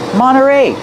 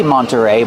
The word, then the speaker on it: Monterey: Monteray. You have NT. You don't hear the T when it's between vowels. Monteray. You can say Mterrey, but you'll usually hear Monteray.